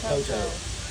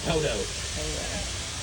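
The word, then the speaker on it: Poteau: In my town of Poto. I've been saying we say Poto. It's spelled P-O-T-E-A-U. It's French.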